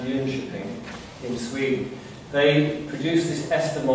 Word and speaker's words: Jönköping: Now, in a place called, it's spelled John Coping, but it's pronounced Jönköping in Sweden, they produced this Esther model of care.